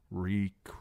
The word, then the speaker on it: Reek: Reek, Reek. It rhymes with leak.